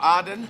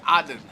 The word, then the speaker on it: Aden: I thought because I want to learn Arabic, so I thought I should pronounce it like Arabic people do and say Aden. Aden.